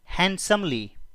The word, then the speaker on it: handsomely: Will pay हिम हैंडसमली, यहां पर D silent है।